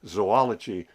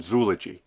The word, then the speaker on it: zoology: a diuresis over it notice that I just added two dots over the second o to indicate that it's to be pronounced zoology rather than zoogy uh as I said